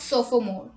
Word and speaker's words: sophomore: PH is sometimes pronounced like F. Let's look at the examples. Telephone, paragraph, alphabet, epiphany and sophomore.